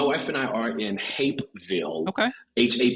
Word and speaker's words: Hapeville: what so my wife and I are in Hapeville okay ha a p e and I have to spell it because Norm normally people hear like you're